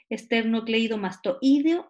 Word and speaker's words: esternocleidomastoideo: nuevo esternocleidomastoideo porque su problema es cómo se pronuncia la palabra esternocleidomastoideo esternocleidomastoideo esternocleidomastoideo esternocleidomastoideo perfecto volvamos ahora entonces a el